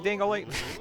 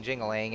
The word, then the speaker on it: Jingaling: us the way King dingling I like how they actually mispronounce his name like despite the fact that you know he clearly introduced himself as king jingling and and you know